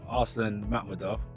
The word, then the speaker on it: Arslan Makhmudov: So for so for Arslan Makhmudov, that's the right way to pronounce it, right?